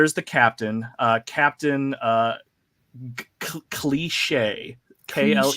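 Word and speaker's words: Klee'shae: captain uh Captain uh cliche kle e sh AE Captain cliche is is how I'm assuming she pronounces her name um she's the silent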